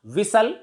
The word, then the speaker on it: whistle: Whistle. We can say that T is silent before LE at the end of a word.